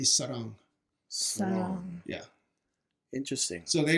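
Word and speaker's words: 사랑: But anyway, the same character in Cantonese is actually pronounced Ngoy in Cantonese. And then in Korean, it would be Sarang.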